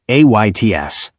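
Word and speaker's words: עץ: Hebrew word for tree is ets, text pronounced like ayts.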